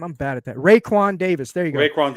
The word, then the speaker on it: Raekwon: How do you pronounce that first name? I'm bad at that. Raekwon Davis.